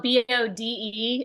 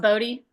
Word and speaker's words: Bode: and it's spelled B O D E. It looks like Bode, but it's pronounced Bodie.